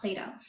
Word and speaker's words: Plato: that's how you spell his name but it's pronounced Play-Doh thank you Sonic oh here comes another one